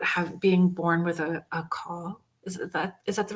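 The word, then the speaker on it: caul: being born with a a call. Is that is that the right word? Am I pronouncing it correctly? I think it's C A U L. Cow cow where the sack is actually Oh, yes.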